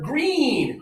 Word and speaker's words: green: High tongue, a little bit of air, green.